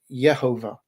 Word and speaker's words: Yehovah: that I believe that the name of God should be pronounced yehovah uh and I also